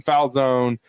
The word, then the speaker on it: Falzone: from from Penn State, it's Payton Falzone. It's definitely Italian. So, I think the E is silent. So, I would say Payton Fowlone from Penn State, the